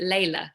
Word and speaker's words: Lelia: you this this is my middle name but i pronounce it layla yeah yeah so welcome